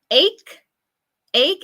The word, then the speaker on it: ache: Okay, so the difference between these words, ache, esa es la pronunciación de la primera palabra.